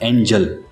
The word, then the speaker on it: angel: और जो दूसरा वर्ड है उसका स्पेलिंग है ANGEL, तो इसका प्रोनाउंसिएशन होगा एंजल। तो आपको याद रखना है जब भी GEL आएगा तब जल, GLE आएगा तब गल, एंगल।